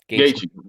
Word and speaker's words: Gaethje: The next 5 reviews, they're talking about, oh, what's going to happen when we see, what's his name, Gaethje? Is that how you say his name? Gaethje.